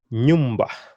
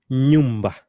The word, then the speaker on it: nyumba: Nyumba. Can you pronounce that again? Nyumba.